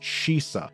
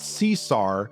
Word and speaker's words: Shisa: you heard me right it's pronounced shisa not Cesar not Caesar and definitely not cesa like this idiot thought King shisa is well